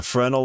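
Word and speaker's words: Fresnel: uh okay so a fral lens called a frenal lens and originally or like it's it's true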